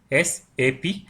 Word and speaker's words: SAP: सो एसएपी software use किया जाता है for managing business application and इसका प्रोनाउंसिएशन है एज a individual letter SAP, separately इसको प्रोनाउंस किया जाता है।